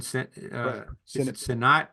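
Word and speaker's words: Sinnott: I know they drafted Ben sinat is that how you pronounce it Senate okay Senate from Kansas State who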